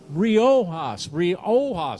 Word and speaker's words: Riojas: Riojas. I am so sorry, Riojas. So the J is silent.